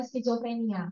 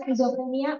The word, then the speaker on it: skizofrenia: Itu benar apa salah skizofren? Kurang tepat ya. Ada yang bilang cuma skizofren aja, itu juga kurang tepat. Yang benar adalah skizofrenia.